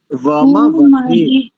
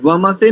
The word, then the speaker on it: वमवसे: जगतस्थुषस्पतिं धियञ्जिन्वमसि वमवसे, वमवसे, वमसे नहीं, वमवसे। धियञ्जिन्वमवसे हूमहे वयम्।